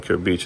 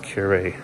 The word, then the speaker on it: Kure Beach: We were saying Kure Beach, and then the logo was like, no, it's pronounced Kure.